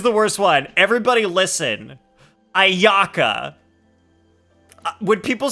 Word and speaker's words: Ayaka: So like you don't say Ayaka, you say Ayaka, because you don't stress the second A. There's no such thing as stress on vowels in Japanese.